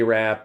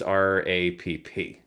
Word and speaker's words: Rapp: You don't pronounce his last name Rape? I do not, and I don't believe he does either. I thought the E at the end was silent, the R-A-P-P-E. There is no E, it's R-A-P-P.